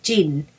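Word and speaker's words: djinn: And the name of the gin that doesn't need to pronounce the D, so just pronounce gin.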